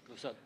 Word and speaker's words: Clouzot: Sí, Clouzot, Henry George Clouzot. Es este señor que menciona. Bueno, Henry George Clouzot.